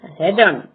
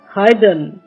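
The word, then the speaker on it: Haydn: হাইডেন, Mozart, বেথোভেন, এই হলো আসল উচ্চারণ।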